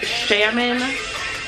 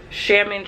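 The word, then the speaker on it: Xiamen: i are staying here um so we flew salmon it's spelled x x i a m e n and uh we have a layover in shaman china because we're going to thailand so our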